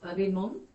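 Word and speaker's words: רימון: Did you say pomegranate is rimon? Bring one. Rimon. Mm-hmm. Is the accent on the on? Mm-hmm.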